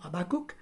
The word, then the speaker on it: Habakkuk: Il découvre dans le livre de Habakkuk, qu'on prononce également Habakkuk, il découvre donc dans